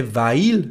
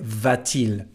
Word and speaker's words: va-t-il: We don't say va-il, but we say va-t-il.